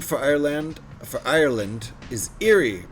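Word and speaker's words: Éire: Uh, old jame for Ireland for Ireland is eerie pronounced like error.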